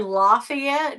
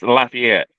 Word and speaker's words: Lafayette: I don't know and I say it wrong because I was saying laay yet but it's apparently laugh laughy at I don't know really I said play it I just the Annunciation is Lafayette yeah and she said